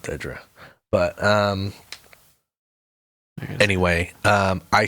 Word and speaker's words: Dedra: maybe Dra Dra um well it's spelled D E E you know whatever it's just Dra it's called Dedra but um anyway um